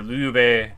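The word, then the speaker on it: 刘备: Alright, and after declaring ourselves emperor, Liu Bei, that's how you say it.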